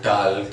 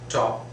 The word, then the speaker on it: talk: talk and walk, and even people try to pronounce that L as well, talk and walk, even some people do that, but that is absolutely wrong, utterly wrong. The correct is walk, talk, was, right?